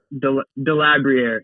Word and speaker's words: Delabruere: name to start with is it deab debria or debrier is how I say it that's I'm running with okay okay yeah I